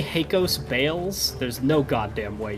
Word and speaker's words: Hakos: deriving from the O, so it would be Heikos. Obviously, most people Well, would it's say Hakos, H-A-K-O-S.